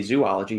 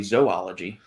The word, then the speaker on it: zoology: So But no, the study of zoology, you don't say zoology, it's usually zoology.